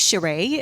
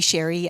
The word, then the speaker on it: Xurui: My name is Sheree. It's spelled Xurui, so a little bit confusing. You can also call me Sherry.